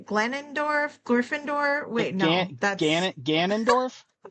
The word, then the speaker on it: Ganondorf: Gan Ganondorf. I think Ganond I think Ganondorf is how you pronounce if I remember correctly.